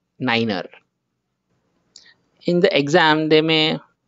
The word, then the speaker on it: niner: what you will call you will say it as runway zero niner in the exam they